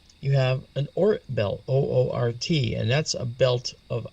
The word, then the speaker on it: Oort: That's how it's pronounced. And then you have beyond that, you have an Oort belt, Oort, and that's a belt of icy objects as well.